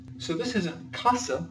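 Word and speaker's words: casa: going to teach you when an S is in between two vowels it is no longer an S it is in fact a z so this isn't Kasa like you would say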